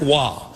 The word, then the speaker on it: Roy: Goaltender Patrick Waugh. Waugh spelled R-O-Y.